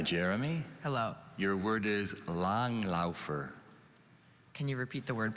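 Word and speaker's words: langlaufer: i have the definition please a cross-country skier long laugher long laugher can you say it again long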